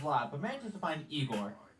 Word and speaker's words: Igor: but manages to find igor now it's pronounced igor but they told me it was igor well they were wrong then weren't they unfortunately igor